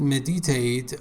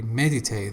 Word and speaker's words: meditate: And also you said meditate, I think, but you should say meditate. The first syllable is stressed.